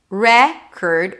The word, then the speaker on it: record: Record, here the re is the primary stress, as in red, curd, or it's a world record, right? Same pronunciation. Record, or I need to record it. Then it's a schwa. Cord. All of a sudden it's an o sound, as in for.